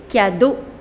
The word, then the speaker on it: cadeaux: Les cadeaux. The pronunciation doesn't change. Le cadeau, les cadeaux, which means the gifts.